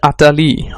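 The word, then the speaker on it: utterly: এক্ষেত্রে আটারলি মানে আমরা বুঝতে পারছি উচ্চারণ হচ্ছে আটালি, আটালি, রয়ের উচ্চারণটা নেই।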